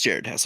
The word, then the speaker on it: Jared Hess: Maybe I'm getting his name wrong. No, it's Jared Hess.